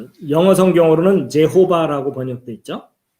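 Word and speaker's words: Jehovah: 이제 이것이 이제 번역될 때 영어 성경으로는 제호바라고 번역돼 있죠. 예, 그리고 우리 개역개정 성경에는 여호와라고 번역돼 있죠. 예, 근데 여기 앞에 이 Y자가 어떤 나라에서는 J 발음을 하기도 하거든요.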